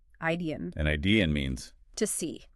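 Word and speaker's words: idein: Idian.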